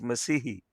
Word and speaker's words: Massia: so this is massia well the British pronounce it Massi but of course in Hindi in Punjabi is msii M okay and again